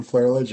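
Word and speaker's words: Flerlage: So my name is Flaherlidge.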